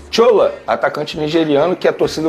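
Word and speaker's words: Shola: É Chola mesmo que fala? Olha, eu falo porque, primeiro, ele é nigeriano, o nome dele é assim que se escreve, S-H-O-L-A. Aí eu pronuncio dessa maneira.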